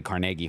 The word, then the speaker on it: Carnegie: for the hall right it's probably carnagi Hall it's just no one says it that way I you go to Pittsburgh you say it wrong they'll run you out of town they'll send you to